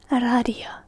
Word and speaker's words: radio: we pronounce it as radio. Radio. Instead of radio, we say radio. Pretty simple, pretty straightforward. I'm certain the pronunciation can take a bit to get because the hard R at the start, radio.